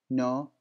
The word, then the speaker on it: know: You know, no. There is K, but the K is silent. And this is the rule, when K of come when there is N and comes K before it, the K will not be pronounced.